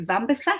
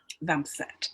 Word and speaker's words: Vambeset: guest today is is it vampire is that how i pronounced your surname yeah one tip vancette welcome um thank you